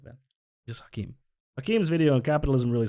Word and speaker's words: Hakim: this video by hakim why did i say his name like that it's just hakeem what why did i say it like that just hakeem hakeem's video and capitalism